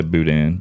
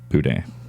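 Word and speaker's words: boudin: be yeah buan buan some people say Budan but it's buan yeah man I we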